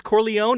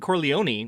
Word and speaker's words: Corleone: And then the other one is Corleone and Corleone, which I noticed they kind of say both in the movie.